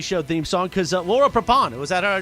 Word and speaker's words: Prepon: Prepon. Laura Prepon. I said Prepon. Oh, it doesn't matter. Laura Prepon.